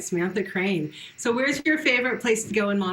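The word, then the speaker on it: Crain: whose name is Samantha Crane and it's spelled c r a i n like pain um her album I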